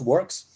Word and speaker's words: WRKS: not um so uh wrks is pronounced works uh and the company